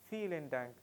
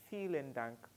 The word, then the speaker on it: vielen Dank: vielen Dank, vielen Dank, vielen Dank. Take note of the pronunciation, like you want to feel something, vielen Dank, vielen Dank.